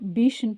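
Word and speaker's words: biche: சோ நேத்துக்கு பார்க்கும்போது நம்ம பீஷ்ன்னு பார்த்தோம் பீஷ்னா என்ன பார்த்தோம்? பெண் முயல சொல்றதாந்த இனி பீஷ்ன்னு சொல்லுவோம். ஆண்மான சொல்றதா இருந்தா அசேர்ன்னு சொல்லுவோம் எ படிக்க கூடாதுன்னு சொன்னோம் எ வந்து உச்சரிக்க கூடாதுன்னு சொன்னேன்.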